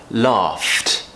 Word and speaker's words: laughed: we're going laugh so because that's unvoiced the easiest situation and correct pronunciation situation would be to pronounce that unvoiced at the end laughed so what we need